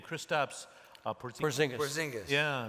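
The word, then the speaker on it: Kristaps Porziņģis: Porzingis.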